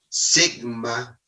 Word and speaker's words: sigma: Y esta letra griega que se pronuncia sigma, letra griega que se pronuncia sigma, representa el error estándar o desvío estándar.